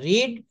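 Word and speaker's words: read: রিড রেড রেড হ্যা বানান কিন্তু একই উচ্চারণটা একটু আলাদা বলবেন রিড রেড রেড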